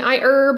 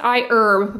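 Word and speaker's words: iHerb: on a few videos they actually specified that the H be kept silent so yeah that is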